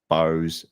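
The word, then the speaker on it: Bowes: And congratulations to Jack Bose. B O Wes. Yes, that's right. That's how you spell it.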